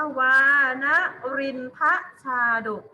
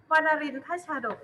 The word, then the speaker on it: วานรินทชาดก: รูป ดู เลย บอก ว่า วานรินทชาดก อ่าน ว่า ว่า นรินทร์ พระ ชาดก ลูก อ่าน ยาก นิด นึง ว่า นรินทร์ พระ ชาดก เนี้ย อ่า ดู รูป ลูก ข้อ หนึ่ง ตาม